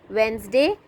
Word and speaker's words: Wednesday: Wednesday, D is silent.